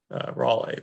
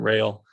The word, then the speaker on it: Raleigh: You know, he was French, so presumably his name was Raleigh, but English probably called him Rail. Yeah. There's like 3 different spellings I was trying to pronounce it phonetically, so bad on me, but I'll call him Raleigh from now on.